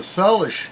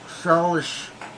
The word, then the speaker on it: Salish: But yeah, the Salish. Am I saying it right? Salish Sea. Yeah, Salish Sea.